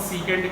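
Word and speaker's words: secant: अच्छा देखो, इसे प्रोनाउंस सीकेंट करेंगे लेकिन लिखेंगे सेक थीटा.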